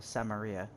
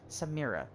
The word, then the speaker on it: Samira: member of the clan that i know well samaria uh samira samaria why did i say her name wrong samira s-a-m-i-r-a samir wow okay i am terrible at